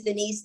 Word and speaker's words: Denise: name is that beast my first name is denise it rhymes it goes together that's actually how my